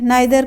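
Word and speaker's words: neither: तो ईच हर एक, आइदर को ईदर भी प्रोनाउंस करते हैं, नाइदर को नीदर भी प्रोनाउंस कर सकते हैं।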